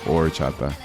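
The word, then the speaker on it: horchata: It's spelled with an H like orchata but the H is silent so it's orchata.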